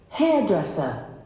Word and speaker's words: hairdresser: a hairdresser or hairdresser listen hairdresser hairdresser so it should be on hairdresser the first syllable hair dresser okay and